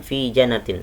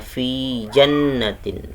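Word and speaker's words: فِي جَنَّاتٍ: Jannah ditahan janavi Janah bukan fijanatin salah yang yang benar bacanya V jannatin V jannatin Hai selanjutnya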